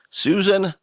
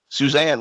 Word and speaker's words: Suzanne: right now is the CEO of cell hound Susan woke Suzanne woke yes I got your name wrong I knew I was more worried about